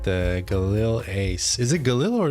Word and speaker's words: Galil: 3D model your voice Galil with a hard G okay that's what I